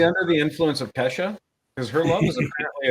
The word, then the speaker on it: Kesha: Roger Justin Bieber and Keisha they had birthdays it's Acacia or Kesha okay Kesha I said it wrong I'm an idiot did